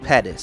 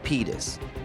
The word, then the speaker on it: Pettis: and yes i'm aware it's pronounced pettis from anthony pettis and not pedes my girlfriend made me